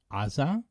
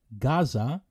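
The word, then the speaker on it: עזה: meaning the Gaza Strip please notice that in Hebrew we pronounce it AA as opposed to the English Gaza and the Arabic at the moment theages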